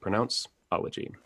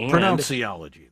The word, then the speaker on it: Pronounceology: Yep, the word pronounce, and then ology. So like this, ology is Greek for, the study of. So the study of pronunciation. Pronounceology. Not pronunciology, though.